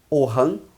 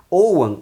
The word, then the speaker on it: Ogham: O Ogham, né, que pode ser pronunciado como Ogham, Ohan ou abrasileiradamente Ogham. Né? Ogham, a pronúncia correta de acordo com o gaélico, quando tem GH, que é a grafia que eu particularmente uso. E quando ele é só G, seria Ohan, né?